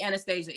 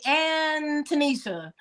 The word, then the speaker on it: Anastasia: doesn't it you know people get lazy and they say anonia oh my God what